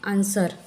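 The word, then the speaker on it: answer: डब्लू का उच्चारण नहीं करते यहां पर य साइलेंट लेटर हो जाता है आंसर सर्ड यहां पर भी सस के बाद आया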